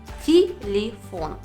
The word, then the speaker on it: телефон: нас есть три слога первым телефон последний слог ударный а это значит что он остается о первые две гласные е оказались без ударения но слышим мы не звук е а звук и в обоих слогах телефон нетрудно вывести второе правило